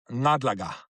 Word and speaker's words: ngadlaga: Can you say ngadlaga with a nga? Nga. Yeah, ngadlaga. You see, English people, they find it hard to say nga, although they have it in Long Island, but they say Long Island, but Long Island, but ngadlaga.